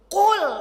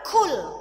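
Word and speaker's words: قل: coba 1 2 3 Qul bukan kul Nah kalau IB bacanya kul Kaf maknanya beda Qul itu artinya apa Qul pakai Q Katakanlah kalau kul Makanlah Makanlah Allah itu satu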